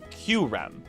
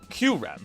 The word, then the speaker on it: Kyurem: I'm also probably going to stop saying Kyurem because it's really weird for my tongue, even though that's the correct way to say it. I'm going to call it Kyurem because that's the way I've always said it.